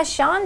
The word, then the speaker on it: shun: 자, 이따가 문장에서는 쓰인 예를 보도록 하시고 자, 두 번째는 동사 Sean 되겠습니다. 우리 사람 이름 Sean, S-E-A-N과 발음이 똑같은데요.